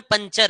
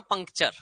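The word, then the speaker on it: puncture: हिंदी में पंचर है। और मैं बोल रहा हूं पंक्चर। ठीक है? एक्चुअल वर्ड है पंक्चर।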